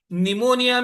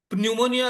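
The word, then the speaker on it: pneumonia: For example, निमोनिया का spelling देखिए, English में पी से शुरू होता है, या साइकोलॉजी का स्पेलिंग पी से शुरू होता है। क्यों भाई, क्यों? वो पी है कहाँ? कहाँ है वो पी? निमोनिया में न्यूमोनिया तो नहीं कहते हम ना।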